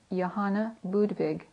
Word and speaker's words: Johanna Budwig: scientist and biochemist Dr Johanna budwig pronounced in German Yana Budig who healed Advanced and